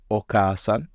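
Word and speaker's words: お母さん: Mother, Oka-san. Note there's the after the ka, which I feel like is a little tricky for me.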